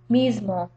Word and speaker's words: mismo: with a z sound this same thing happens in the word miso mismo because the S is at final position of the syllable M Mo and it be comes before a voiced consonant the m so M miso so the voice consonant M makes that s voiced as well or Sonora mismo you